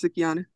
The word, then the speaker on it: Sukihana: It's spelled Suck. Sukihana. What is it, Lynn? Is Sukihana, Lynn? Yes, Sukihana.